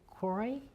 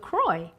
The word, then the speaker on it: Croix: you think that's gonna float hmm okay look Cory no no that's not right honey how do you pronounce that look look Croix yes that's how you pronounce it okay go